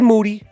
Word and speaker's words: Moody: first me and moody whose last name rhymes with duty our gonna do the